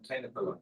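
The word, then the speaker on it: Thenkalai: Okay, so I pronounced it completely wrong. Say it again. Vadakalai and Tenakalai.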